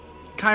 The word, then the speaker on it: Kai: Kai rhymes with I. Gotcha. Kai Karach.